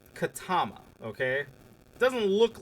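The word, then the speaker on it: Ketema: It's Katama. Okay. Doesn't look like that's how it's uh spelled. It's K E T E M A but it's pronounced Katama.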